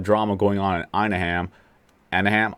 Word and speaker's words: Anaheim: going on in inam anahim anahim how you pronounce it Anaheim yeah Anaheim I don't even know how